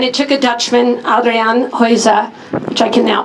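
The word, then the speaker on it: Geuze: New York and it took a Dutchman Adrian hoiza which I can now pronounce correctly to create what you're about to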